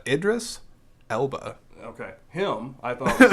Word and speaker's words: Idris Elba: good job I likeed I like Idris Ela yeah I can never pronounce his name so I just yeah uh Idris Elba okay him I thought